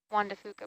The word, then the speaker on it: Juan de Fuca: reminded me it's the Juan de Fuca plate. I think I always get scared I'm going to mispronounce that and accidentally swear. Thank you. First name Juan, last name DeFuca.